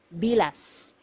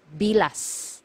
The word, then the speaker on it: bilas: one sister-in-law sister-in-law is bilas bilas so you have to be very careful with this one you have to pronounce the letter S at the end because if you mispronounce